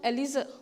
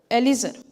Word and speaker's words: Eliezer: How do you pronounce it? Eliezer. Eliezer.